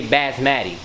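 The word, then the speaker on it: basmati: this a couple of buzz baths Maddie rice don't say it right you got to say bats Maddie okay and then I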